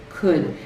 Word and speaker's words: could: The L is really silent in these.